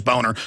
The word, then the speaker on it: Boehner: John Boehner scam, but he pronounces it Boehner, which I've talked to Germans and looked it up. It is Boner. Nothing wrong with having the name Boner, but he tells everybody, you know, it's Boehner.